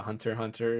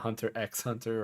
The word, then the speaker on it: Hunter x Hunter: Hunter yeah exactly that's another good example yeah Hunter Hunter is not Hunter x Hunter or Hunter cross Hunter yeah um I I I think the Pokemon's